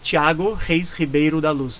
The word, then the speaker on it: Thiago Reis Ribeiro da Luz: But mine is Thiago Reis Ribeiro da Luz. That's how I would pronounce in Portuguese, let's say.